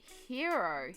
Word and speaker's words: gyro: You pronounce it hero here, but it's spelled gyro.